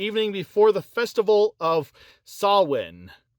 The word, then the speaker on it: Samhain: before the festival of Samhain. I believe that's how you actually pronounce it, Samhain. It's not how it's spelled.